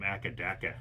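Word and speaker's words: Acca Dacca: and he called them akaaka he did yeah so it's a thing people what the heck yeah akaaka is the way they pronounce ACDC For some reason the way they say it in Australia huh and I would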